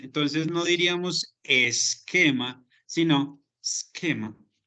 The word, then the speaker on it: schema: Bueno, por acá tenemos a schema y esta es la pronunciación, schema. ¿Listo? Va a sonar como una K, no como no es schema ni nada por el estilo. Vamos a pronunciarlo esquema.